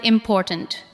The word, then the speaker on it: important: Listen to the word important. Important. The second part receives the strongest beat.